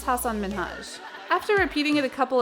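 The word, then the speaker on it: Hasan Minhaj: episode degeneres introduced the comedian by his name hassan minaj pronouncing both his first name and last name incorrectly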